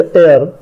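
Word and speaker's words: heir: एंड एयर, ये इसका उच्चारण, इसमें ह साइलेंट होता है, एच का उच्चारण नहीं करते हैं, एयर बोलते हैं इसको।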